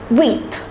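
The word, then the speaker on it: huit: is pronounced as Seth the number eight is pronounced as wheat listen carefully it's pronounced as with the number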